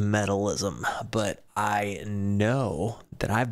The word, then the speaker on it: Metalizm: I believe this song is pronounced metalism, but I know that I've been dying to get back to baby metal.